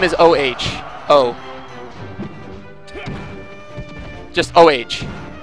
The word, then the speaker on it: Oh: O. Just O-H. His name is O. But it's spelled O-H. No, all lowercase.